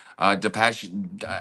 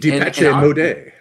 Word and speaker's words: Depeche Mode: Depache, I've never said their name right. Now that I've heard you say it correctly, Depache mode. I Depeche know who Mode, that is. Yeah, very familiar. And Depeche Mode.